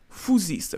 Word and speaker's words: phusis: Donc, phusis, même si c'est écrit P-H-U-S-I-S, ça se prononce fou.